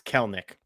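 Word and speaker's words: Kelenic: And apologies, it's Kelnik. So, sorry to Jared Kelnik. I never pronounce his name wrong.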